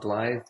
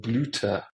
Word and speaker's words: Blythe: because it's B-O-Y-T-H-E, Blythe, but Germans pronounce Y-U. So Y is a U, and THE gets pronounced not as like a one syllable, but it gets pronounced as a new. So instead of Blythe, I'm called Bluter, which means flower.